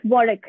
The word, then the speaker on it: Warwick: five modules uh it's warwick yes uh the w is silent if that's what you're